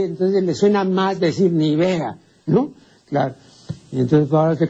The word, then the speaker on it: Nivea: Así como la crema esa de belleza que no se llama pues Nivea, ¿no? Sino Nivea, porque es como el color de la nieve, ¿no? Por eso se dice Nivea. Pero la gente dijo, "No, eso no puede ser Nivia." Pues no sabe lo que el pueblo pues no sabe lo que significa Nivea, ¿no? Entonces traslada el acento.